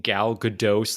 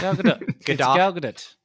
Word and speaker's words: Gadot: Her confusing advice is that the T is pronounced as a lighter T as a softer T. So we're both wrong. We're all wrong. Gal Gadot. Gal Gadot.